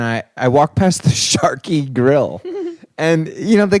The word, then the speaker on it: Charqui: I wanted to ask you what the hell was going on at the Chi Grill the other night. Well, the I pronounce it the Sharky Grill.